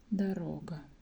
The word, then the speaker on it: дорога: Second O is stressed. Дорога. And first one is not stressed. That's why we pronounce it like дорога.